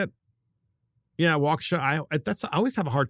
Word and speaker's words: Waukesha: Yeah, Waukesha. I always have a hard time with that name because it's just, I know it's a Native American name, but it's just like kind of out there. So Waukesha County Circuit Court Judge Brad Schimmel granted a